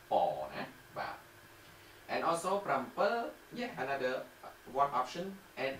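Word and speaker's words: ប្រាំពីរ: Okay, this is also 7, okay, so one more time, for 7, written, prampi, prampi, spoken, you have two options, prampel, prampel, or mpel, mpel.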